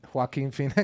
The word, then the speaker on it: Joaquin Phoenix: Joaquin Phoenix.